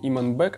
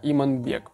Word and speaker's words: Иманбек: Ну, там я, видимо, неоднозначно как-то высказался, плюс ко всему половина комментариев состоит из того, что меня поправляют люди, как правильно говорить, не Иманбек, а Иманбек.